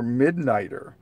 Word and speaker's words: McNider: Society, as well as Dr. Midnighter. It's spelled McNider, M-C-N-I-D-E-R, if they're going with the original version.